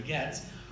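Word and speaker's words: Goetz: gets a key one it pronounced that the German way Getz wrote a marvelous play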